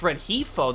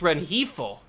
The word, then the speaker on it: Rengifo: one now we got rengifo oh it's red heifo there's a it's a soft G I thought I heard it differently the other time Luis Ren heathl is how you pronounce his name I will remember that